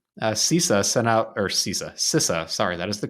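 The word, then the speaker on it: CISA: just last week sisa sent out or sisa sisa sorry that is the correct pronunciation I've been corrected by friends that says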